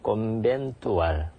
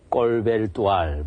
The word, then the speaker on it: 콘벤투알: 콘벤투알. 그래서 어떤 사람은 이 발음이 어려워서 콘벤투알이라고 못하고 꼴벨투알 이렇게 발음하는 사람도 있고 여러 가지 발음이 막 나오는데 정확하게는 콘벤투알이라고 이렇게 이제 쓰고 발음을 콘벤투알 이렇게 합니다.